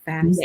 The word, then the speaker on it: FAFSA: FAFSA.